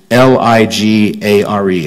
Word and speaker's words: ligare: The Latin root of the word religion is L-I-G-A-R-E. I think it's pronounced ligare. It's the same root as ligament.